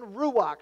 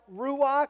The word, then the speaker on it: ruach: Number one, there is the word, again, ruach. So put that in there after the breath of life. Ruach is one of them, again, R-U-W-A-C-H.